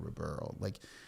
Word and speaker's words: Ribeiro: And then when we rebranded Ribeiro, see, even you can't say my name, Ribeiro.